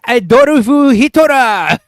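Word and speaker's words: アドルフ・ヒトラー: Oh my god, it's Adorufu Hitora is how you say his name in Japanese.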